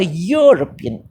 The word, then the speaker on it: European: A European, pronounced as UR, European.